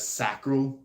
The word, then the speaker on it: sacral: people say it as sacal um you know sounds a lot more like sacrifice but it to me I I naturally say it as sacral like sacred so manifesta is also